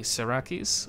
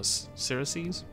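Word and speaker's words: Siraces: They are quite powerful, they own their own province, and they are fighting the Syraces, or Syraces. I'm going to do that with a hard C.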